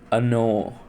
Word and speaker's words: Оно: Thus, we have the personal pronouns Он (he) and Оно (it). In the latter pronoun, the stress shifts from the first syllable to the second, so the first vowel is pronounced ɐ while the second is pronounced oh.